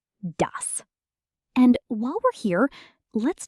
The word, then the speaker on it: das: The s at the end of dos is a soft s, not a z sound. Ds. Not daz. dus.